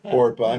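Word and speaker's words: Orpah: named uh two women one named orpa which was Oprah's original name but nobody can pronounce it so it's Ora not Oprah Ora and Ru they uh there's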